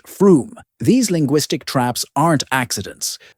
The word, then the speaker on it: Frome: Other head-scratchers include Us Wolfardesworthy, pronounced Woolsery, Mousehole, pronounced Mosul, and Frome, pronounced Froome.